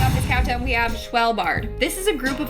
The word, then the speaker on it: Svalbard: Starting off this countdown, we have Svalbard.